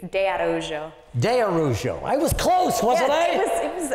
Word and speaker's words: de Araujo: and gentlemen I'd like you to meet how you doing nice nice to have you here nice to have you that last name is pronounced oh It's Tricky it's de arjo de arujo I was close wasn't I it was it